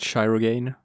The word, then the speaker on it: Shirogane: It's pronounced Shirogane. Not if you are German.